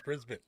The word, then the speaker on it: Brisbane: I just learned how to pronounce it correctly. Brisbane.